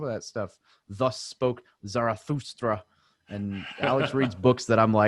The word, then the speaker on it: Zarathustra: Zarathustra.